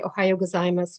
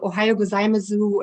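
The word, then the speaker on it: おはようございます: end ohayo gozaimasu and i didn't know the u is silent so i would walk to the neighborhood and say to all the japanese people ohayo gozaimasu and later i found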